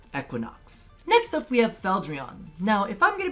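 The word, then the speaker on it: Fieldron: So up north, they would pronounce it Feldrion. Feldrion. However, to localize it, because as many of you guys know, we don't run around asking for croissants when we want croissants, we would pronounce this Feldrion.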